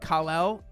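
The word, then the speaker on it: Kal-El: don't care anymore um actually it's pronounced kalel on krypton but on earth it's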